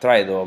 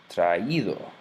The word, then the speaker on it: traído: It's just to make an extra syllable here, so it's not traído, but rather traído, no?